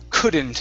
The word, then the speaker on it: couldn't: Okay, let's go to the word couldn't instead of ku. Okay, open the mouth on that vowel.